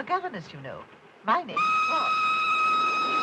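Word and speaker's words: Froy: My name's Troy. You said Florence? No, oh, not even deep. Troy. I'm sorry, I can't hear. It rhymes with joy.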